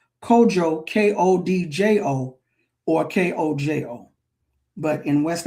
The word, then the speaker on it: Kodjo: And DJ in West Africa languages, DJ or DI or DW is pronounced with the J sound.